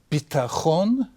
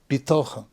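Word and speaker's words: בטחון: The word bitachon, sometimes pronounced bitochon. Bitachon means security, and bitochon means faith or trust.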